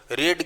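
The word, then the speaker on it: read: रीड की third form रीड ही हुआ करती है, लेकिन उसका उच्चारण जो होता है वो रेड होता है। तो रीड, रेड, रेड, स्पेलिंग एक ही है लेकिन उच्चारण अलग है।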